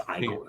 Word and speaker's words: Igor: Frankenstein Frankenstein Frankenstein well you must be eagle no it's igore igore wasn't that hump on